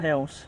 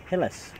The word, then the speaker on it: Hillis: It's not Hills. No, it's not. Hillis. Hillis, yeah.